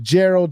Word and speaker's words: Jharol: YouTube at Bank of Jerald just like it's spelled here on the screen my first name is spelled a little different but you got it Bank of Gerald you should see a